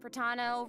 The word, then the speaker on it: Pratano: And hosting with me today we have Hey everyone, I'm Pratano rhymes with Capitano, the voice of child's master Skirk.